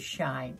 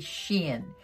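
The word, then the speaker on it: SHEIN: wrong by the way dubby told me it was shine but it's really sheen and i love that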